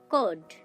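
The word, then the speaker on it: code: কোড, দেখুন এখানে আমরা সি এবং ও লেটারটিকে খুঁজে পাচ্ছি, কিন্তু এখানে তার উচ্চারণ ক হচ্ছে ঠিকই, কিন্তু তার সাথে একটা স্বর যুক্ত আছে, সেটা হচ্ছে ও।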